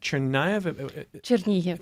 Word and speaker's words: Chernihiv: If I remember, you're from Chernihiv? Chernihiv, sorry. Okay, Yes. thank you for the pronunciation here.